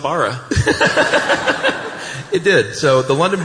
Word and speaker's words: Borough: Yeah, been saying borough like dumb Americans. And our lighting guy last night said, fellas, come over here. And he said it with a great accent, but I'm not going to try and do it. He pulled Chuck's beard. He has a great beard, too. So we rub beards together. And it's spelled Bara.